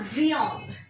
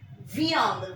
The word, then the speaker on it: viande: The next one is j'aime la viande. Viande. V-I-A-N-D-E.